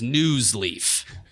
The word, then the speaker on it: Nuzleaf: the week well deserved is news leaf not sleep it's awesome nuzzly yeah